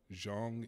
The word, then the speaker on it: Jong: work featured at the Jong Institute for Contemporary Art in South Korea. Yes. Did I pronounce that right? Yes, I think so. Okay, Jong, okay. I think it's Zong, yeah.